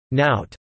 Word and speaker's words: nowt: I, yes, and nout, IPA skeptical smiley face, nat, rhymes with out, nothing, are used elsewhere in northern England.